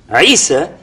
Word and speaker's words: Isa: His name in Hebrew is pronounced Isha or Yeshua, and it's Isa in Arabic. And the reason for that is because the difference between Hebrew and Arabic on this point is Sin and Shin are reversed.